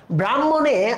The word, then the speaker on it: ব্রাহ্মণ: হ যুক্তবর্ণ হিসেবে রয়েছে ব্রাহ্মণ যেটাকে আমরা যুক্তবর্ণতে হ এবং ম এভাবে পাই কিন্তু উচ্চারণে আমরা উচ্চারণটা লিখলাম ম এবং হ এরপরে আমরা জানি যে